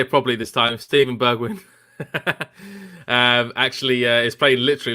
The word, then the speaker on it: Steven Bergwijn: Steven Bergwijn.